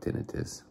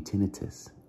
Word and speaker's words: tinnitus: I believe it's pronounced tinnitus.